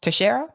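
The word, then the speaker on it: Teixeira: a Portuguese name so the X would be pronounced like an s anywho 21 years old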